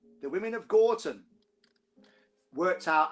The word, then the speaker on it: Gorton: That's how we pronounce it down here, by the way, Gorton.